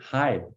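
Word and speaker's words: hej: yeah okay so a couple of things hi it's spelled hcj which is he hey but just we just say hi so it doesn't sound at all the way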